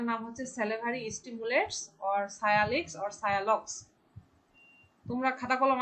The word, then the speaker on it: sialogogues: হ্যাঁ সায়ালগক্স উচ্চারণ হবে সায়ালক্স, বানানটা ঠিক আছে সায়ালগক্স, SIALOGOGUES।